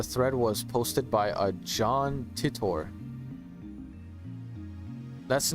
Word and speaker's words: John Titor: does look like Flint like dead ass it's pronounced John Titor oh thank you thank you he claimed to